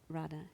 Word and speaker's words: Radha: Tell us about Radha. Is that how you pronounce her name?